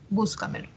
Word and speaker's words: búscamelo: Entonces vemos aquí que la mayor fuerza de voz está en la anterior a la antepenúltima sílaba. Búscamelo.